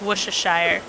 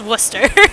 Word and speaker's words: Worcester: most known for is Worcester. People pronounce it, or people try to pronounce it like Worcestershire. I don't know why. It's just Worcester. Where are you getting the Shire part from?